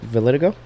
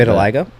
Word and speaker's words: vitiligo: I think he had uh what is it validigo oh Vitiligo God I always get that mixed up for no you said it right you should pronounce it a little different Vitiligo because usually you say no usually you say